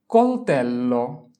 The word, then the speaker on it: coltello: coltello, coltello, coltello. C-O-L, col, T-E-L, tel, L-O, lo, coltello.